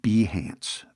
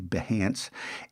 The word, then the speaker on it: Behance: And it's actually pronounced Behance, but I always say Behance.